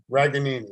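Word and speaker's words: Ragaini: And you get Nico Reganey or Reganini, or however he pronounces his last name. What is it? Raganini.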